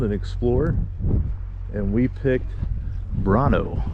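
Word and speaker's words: Brännö: explore and we picked brono b r a n n o with the little dots above the A and the O which probably changes the pronunciation to something that I got incorrect but voming to the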